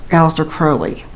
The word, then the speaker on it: Aleister Crowley: I was pronouncing it wrong. It was it's Aleister Crowley.